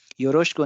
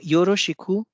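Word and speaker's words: よろしく: तो योरोशिकु लिखा जाता है और इसका उच्चारण होता है योरोशकु। डिवॉइसिंग हो जाता है ई की मात्रा, क्योंकि ये श और ख के बीच आता है।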